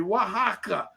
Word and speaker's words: Oaxaca: tom fuentes i said dude how do you pronounce the word and he tells me wah haka and i was like